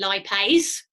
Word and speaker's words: lipase: lipase that's a mistake there should be lipase because remember all enzymes have got that AE sound at the end so there's one I